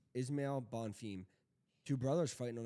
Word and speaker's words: Ismail: week Terence McKinney versus how do you say Ishmael not Ishmael Ismail bonfim two brothers fighting